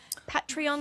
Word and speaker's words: Patreon: Patreon? How do I pronounce that?